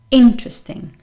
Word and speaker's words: interesting: two interesting interesting interesting as you can notice the stress is on the first syllable and also because the stressed syllable is this one here this vowel in the middle is very small really weak sometimes you could even say that it's not here so imagine it wasn't there so you pronounce interesting interesting oh that's interesting number